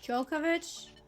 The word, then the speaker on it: Djokovic: He's pronounced Djokovic.